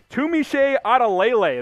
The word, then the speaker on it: Tunmise Adeleye: Next up here, Tunmise Adeleye. That is how you pronounce his name.